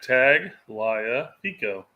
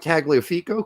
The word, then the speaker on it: Tagliafico: talking about it's not it's phonetic tag lia pico well then i got to tell you that one guy that plays in california that young kid whose name was like you know if you pronounce it the wrong way it sounds absolutely freaking horrible so i'm gonna go with tagliafico because that's what i know and uh my